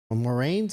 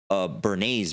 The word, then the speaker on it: Edward Bernays: Moraines, is that what you said? Bernays, bro.